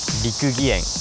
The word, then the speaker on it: 六義園: どで到着するここ六義園。はい、六義園やってきました。